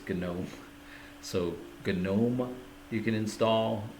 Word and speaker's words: GNOME: I think you pronounce the G and everything Linux GNU and I guess it's Gnome.